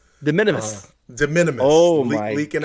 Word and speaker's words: de minimis: How do you say it again? Disminimus? De minimis.